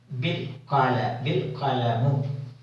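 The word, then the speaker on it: بالقلم: When we join with the alif should not be pronounced. The alif should not be pronounced. We directly go from the B to the lam. Bil qalamu.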